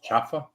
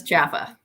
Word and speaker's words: CalHFA: let's stop you momentarily so I've been saying it wrong all this time it's chaffa that's how we say we say everybody I know says Jaffa it looks like Cal now half a but anyway um